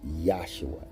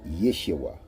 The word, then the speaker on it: Yeshua: studies and learning that it's not yua it's yes Yeshua uh like we say